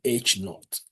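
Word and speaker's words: H₀: We are going to pronounce it as H sub A. HO will be H naught.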